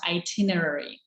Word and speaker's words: itinerary: It's with I, itinerary. That's how it's pronounced, itinerary. So itinerary is basically your tickets back and forth.